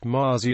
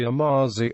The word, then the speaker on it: mazy: French Mercy remains common i e Mazy Mazi with the accent on the first syllable it is possible that